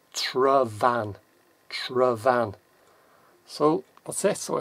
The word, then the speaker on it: Tryfan: same again t-i-y-f-a-n but the F you pronounce as if you've seen a v so it's travan travan so what's this